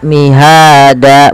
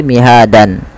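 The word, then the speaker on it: مهادا: di akhir bacaan itu diubah menjadi panjang D maka mihada bukan lagi mihadan ya mihada alamalil Mi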